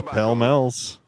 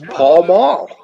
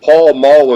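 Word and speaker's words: Pall Mall: He says pel mills, which is incorrect. I always thought it was Paul Maul.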